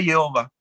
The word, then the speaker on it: Jehová: amigos israelíes a veces, dime cómo se dice el nombre de Hashem. Ellos te dicen, Azur, está prohibido. Y le digo, pero dímelo. Y se acercan y te susurran, Jehová. Se dice Jehová.